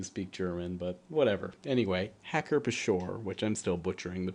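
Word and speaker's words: Hacker-Pschorr: of the day is hacker shore uh now i did actually look online and uh it is claimed that you pronounce the p in this uh i suppose i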